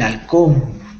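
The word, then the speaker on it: halcón: alcol alcón Así es este es el alcón con h creo que en inglés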